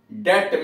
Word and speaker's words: debt: तो डेबिटम का बी डेट में जोड़ दिया गया। तो जो DET था उसको DEBT कर दिया गया, लेकिन उच्चारण तो डेट ही रह गया।